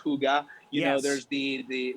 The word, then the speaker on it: hygge: you guys know higi which actually is pronounced hyuga you know there's the